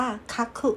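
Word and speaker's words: 書く: ใน หนังสือ นะ คะ ตัว นี้ ออก เสียง ว่า คักขุ เหมือน กัน แปล ว่า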